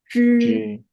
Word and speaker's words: zhi: This one, zhi. Yeah, when we pronounce zhi, we have to keep our tongue tip turned up and connect with this hard palate.